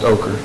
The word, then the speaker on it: Kohler: today good morning judge Kohler well thank you all Commissioners Court well just like operators you know my name is pronounced ocher thank you very much